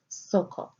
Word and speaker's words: Socho: It is found in Strong's H7755 and pronounced there as Socho.